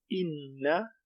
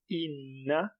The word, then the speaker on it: إن: Inna Inna, shadda. Inna, so some emphasis on noon.